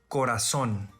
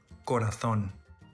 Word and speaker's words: corazón: spanish in latin america first in spain the letter z is pronounced as th as an english word thing but in all other regions is pronounced as s in spain the letter c before e or i is also pronounced as eh but in all other regions is pronounced as s for example corazon corazon tasa tata barcelona the second difference which